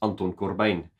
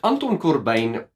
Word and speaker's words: Anton Corbijn: notice how I pronounced Anton Corbijn he's Dutch and I believe growing up in South Africa allows me to pronounce his name properly as opposed to saying